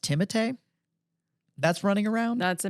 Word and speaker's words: Timothée: Apparently, it's pronounced Timothée.